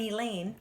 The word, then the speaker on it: Elaine: or any class and Elaine rhymes with pain the unteachable have been removed from the student body and isolated in room one one seven their teacher is mr.